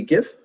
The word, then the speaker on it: GIF: Now the GIF or JIF, depending on your school of thought of how to pronounce movable pictures or moving pictures, is meant to just